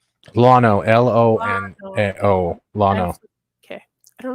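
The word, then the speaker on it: Lono: Lotto? Lano, L-O-N-O, Lano.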